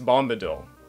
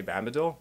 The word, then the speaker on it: Bombadil: about six first one it's Bombadil not bad the dole honestly I haven't gone back to look at the video but I'm sure I did not say bad middle and if I did